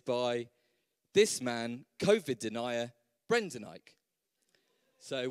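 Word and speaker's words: Brendan Eich: this man covered denier brendanike so one ike and the other one e i c h easily done obviously so same phonetically if you want to learn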